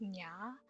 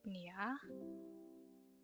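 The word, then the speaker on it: niya: This is pronounced nya, not nia, which would be his, hers, theirs, or he, she, or they.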